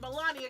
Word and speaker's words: Melania: I know, like, Savage goes, Melania goes too, bitch.